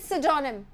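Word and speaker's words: pseudonym: और इसका प्रोनाउंसिएशन सोचिएगा, इट इज सिडोनिम, पी से स्टार्ट हो रहा है पर ये सिडोनिम है, ठीक है।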